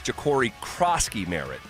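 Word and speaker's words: Jacory Croskey-Merritt: And I mispronounced the young man's name in Washington. It's Ja'Cory Crosky-Merritt.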